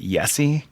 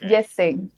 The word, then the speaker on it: Yessé: on online um but is it yesie is that the correct pronunciation no it's yes say okay it's okay okay